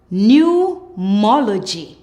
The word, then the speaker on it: pneumology: When you see PN in a word, the P is silent. PN says N. Let's go. Pneumonia, pneumonia. Pneumatic, pneumatic. Pneumology, pneumology.